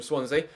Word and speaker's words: Swansea: around the post for corner superb defending from swansea swansea yep Swansea that's how you pronounce it super flexy both defending for Swansea